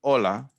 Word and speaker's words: hola: in our first expression hola h is silent never gets pronounced that double l at